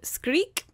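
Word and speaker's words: Skrik: happened so The Scream which in Norwegian is called squeak but it's spelled s k RI k that's way cuter than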